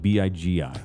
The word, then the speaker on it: Bigi: Jackson that's worse but on paper it's BG bigi like the BG's how pronounced the same not spelled the same yeah go ahead so